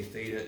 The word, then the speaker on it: theta: Does anyone know how to pronounce this Greek letter? Theta.